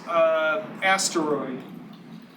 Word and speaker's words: asteroid: I used to pronounce it with only 2 syllables. Someone corrected me. It was my wife. She let me know I said it wrong, so I have to start saying it with 3 syllables.